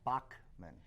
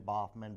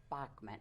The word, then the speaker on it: Bachmann: far off was I Bachmann oh yeah it's German it doesn't look like it's pronounced that way no all through school is ballmen boffman Bauman so it's a CK it is Bachmann okay like Bachmann Turner